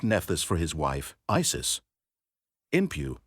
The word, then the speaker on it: Inpu: Inpu, pronounced Inpu or Anpu by Egyptians and Anapa in the Amarna letters, called Anubis by the Greeks, was one of the most beloved gods of the Egyptians.